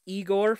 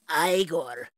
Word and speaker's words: Igor: uh a bit of igore from um uh Young Frankenstein oh no no no it's actually pronounced aigor there you go hey